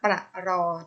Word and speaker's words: ปรอท: อ่าน ว่า ว่า อร่อย ปรอท อ่าน ว่า ปรอท ม.ค อาอ้า เป็น ยัง